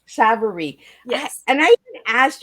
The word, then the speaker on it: Mary Kay Savarese: Yep, and my name is pronounced Mary Kay Savarese. Savarese.